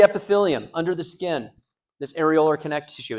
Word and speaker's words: areolar: So if we look at loose connective tissue, the first category is areolar connective tissue. Areolar connective tissue, that's how you pronounce that.